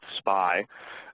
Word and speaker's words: SPI: The next common protocol that you'll see, again, in many low-speed serial buses is SPI, usually pronounced SPI.